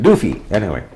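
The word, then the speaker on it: Duvie: One of the names was Doofy, D-U-S, I guess it was D-U-V-I-E or something like that, but you pronounced it Doofy.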